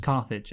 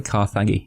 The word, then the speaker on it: Carthage: Dylan, it's just Carthage. Okay. It's quite easy. Oh, it's just cuz it has a G in it. I thought Kaggi, you know, I was like I like I like pronouncing all the letters.